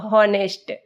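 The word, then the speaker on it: honest: आप देख रहे हैं आवर तो इधर एच एंड H Buddha हनेस्ट एस द H sound is silent H sound है साइलेंट सो आवर इज है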